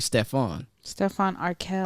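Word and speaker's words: Stefan Urquelle: He's gonna, Oh man, someone said he looked like Stephon Urkel. Not Steve, Stephon Arkell. Arkell, my bad. Get it right. Oh my God, it's spelled the same. Just say it said different.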